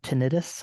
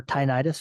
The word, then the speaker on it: tinnitus: I guess a tangent is off to the side, but I suffer from tinnitus or tinnitus, however you want to pronounce it.